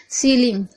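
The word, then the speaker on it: ceiling: सीलिंग में आप देख रहे हैं सी ई आई। शुरू में ही सी के बाद इ आई आ रहा है। देखिए ध्यान से। उसके बाद हम इसको पढ़ रहे हैं सी। क्योंकि एस सी का स होता है और इ आई का इ पढ़ रहे हैं।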